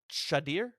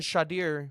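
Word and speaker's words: Shedeur: We know he's taking his son, and I believe it's pronounced Shadir.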